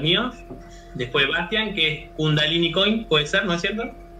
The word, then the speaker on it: Kundalini Coin: Después Bastian, que es Kundalini Coin, puede ser, ¿no es cierto? ¿Ahí lo pronuncié? Correcto, Kundalini Coin.